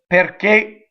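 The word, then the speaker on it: perché: are open and closed you have things like PA open right pear cake closed now what happens is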